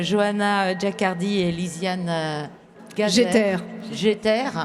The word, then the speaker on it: Jeter: Jeter. C'est comme ça qu'on prononce? Oui, Ok. comme j'éternue. D'accord.